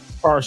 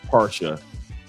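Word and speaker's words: Pasha: yet, which is uh para by Cartier. And I know Cartier is not how you pronounce it in French, but it's para. P A R S H A.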